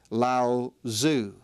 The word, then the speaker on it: Lao Tzu: Again, the T, I understand, has a D sound in the pronunciation, so Daoism was founded by a legendary figure whose name was Lao Tzu.